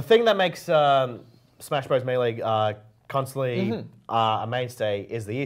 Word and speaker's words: Melee: super smash brothers melee or as i pronounced it back in 2014 malay yes and the kind the the viewers noted that i gotta come in here from the real he says pronounce melee correctly seriously seriously seriously seriously it's a serious issue Malay actually you know what I'm just gonna I know how to pronounce it properly and I'm just gonna keep or melee it's gonna I'm just gonna switch to melee like everyone's angry okay